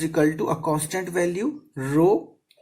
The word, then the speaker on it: rho: It is also known as the rho. RHO. Okay, this is the pronunciation of the rho.